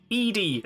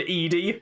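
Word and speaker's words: ED-E: ipod that shoots lasers edie and yeah i'm going to pronounce it that way no it's eddie but no the other one's eddie because it's ed hyphen e this one's e hyphen d e oh okay yeah c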